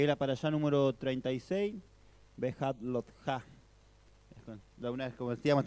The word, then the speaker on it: Behaalotjá: esta semana, que es la parashá número 36, Behat Lotja. De una vez, como decíamos, también un nombre complicado para pronunciar, Behat Lotja.